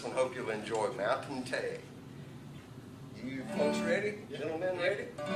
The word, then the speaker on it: Tay: Now, Tay, that's just the way they're pronouncing the word tea, you know, so tea, of course, is a euphemism for homemade liquor.